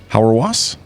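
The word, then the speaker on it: Hauerwas: Stanley how do you say his last name howre wasps huh howre wasps howre wasps yeah h aur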